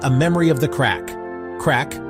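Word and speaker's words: craic: Crack, pronounced crack, is a uniquely Irish term for fun, conversation, good times.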